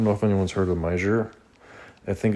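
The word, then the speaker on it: Meijer: I don't know if anyone's heard of meer. I think it's spelled M E M E I J E R I think. Mer something like a cross between like a Walmart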